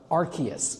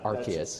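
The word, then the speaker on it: Arceus: Cuz I'm I'm reading the cards. That's how I said it in my head. You know, it's you know, completely valid because I I can't pronounce any Pokemon's name either. Um but I was watching the anime and that's how they said it in the anime.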